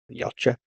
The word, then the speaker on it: Yautja: It's about a young Yautja. Is that how you say it? Predator? Yeah. Yautja.